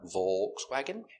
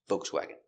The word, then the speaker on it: Volkswagen: Volkswagen. And some people say Volkswagen with no L, just V. Volkswagen. Both are correct.